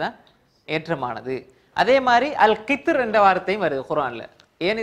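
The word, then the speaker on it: القطر: அல் கித்ர் இதில் எழுதி கொள்ளுங்க. அல் கித்ர் என்ற பதத்திலும் மெல்லினமாக வல்லினமாக உச்சரிக்க அனுமதி இருந்தாலும் மெல்லினமாக உச்சரிப்பதே ஏற்றமானதாகும். இந்த கித்ர் என்ற வார்த்தையில் என்ற வார்த்தை திரும்ப வழங்கப்படுது மைக்கில்.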